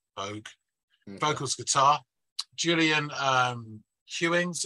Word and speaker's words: Boag: I think it's Bogue or maybe Boag. It's B-O-A-G, Bogue.